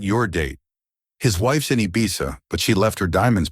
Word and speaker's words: Ibiza: "It's pronounced Ibiza," he said, correcting her.